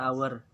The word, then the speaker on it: hour: our our jam Nah jadi tulisannya hower tapi dibaca hour clock Hai jam dinding